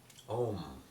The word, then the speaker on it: Om: an im, it's an so it has that Om.